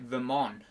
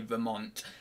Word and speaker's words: Vermont: is Vermont I always I always think with a silent T on Vermont so it's like Vermont but it's not it is actually Vermont 1996 and 2000 USA